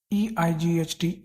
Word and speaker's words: eight: ठीक है, अब देखते हैं EIGHT () ate , यहाँ भी GH साइलेंट है।